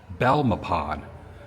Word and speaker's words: Belmopan: Belmopan is how you pronounce the town I'm going to.